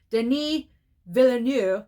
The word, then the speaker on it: Denis Villeneuve: Denis Villeneuve, there we go, for Dune Part 2.